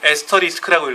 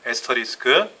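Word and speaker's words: asterisk: 육각 육각으로 돼 있죠 이걸 에스터 리스크라고 읽어요 에스터 리스크 어 영어로 에스터 에스터 리스크 이렇게 읽어요 에스터 리스크라고 하는데 이게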